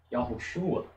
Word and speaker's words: Yahushua: Mas na verdade é isso daqui, ó. Yahushua. Ó, Yau. Se você fala devagar, você nota. Yahushua. Mas se você pronuncia da forma correta, Yahushua, você ouve apenas a vogal A. O O, ele quase desaparece.